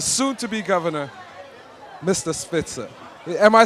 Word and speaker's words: Spitzer: speaking to the soon to be Governor Mr Spitzer am I saying your name right you're saying